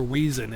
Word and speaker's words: Weizen: Hefe means cloudy or yeasty, and Weizen means wheat. Or Weizen if you want to pronounce it the English way.